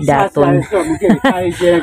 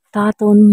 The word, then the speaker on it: Datun: Ayan ang daming tao ang pagkabigkas pala is taton hindi daton mali pala ako taton pala tat taton park ang